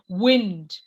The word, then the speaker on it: wind: The wind rhymes with pinned.